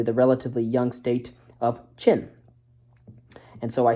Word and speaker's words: Qin: Siege Warfare eventually the relatively young state of chin and so I said it was Quinn it's it is it spelled Quin but it's